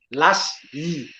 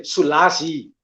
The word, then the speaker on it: Selassie: Hy moet nog gesê dat Lassie. Maar hy het gesê Selassie.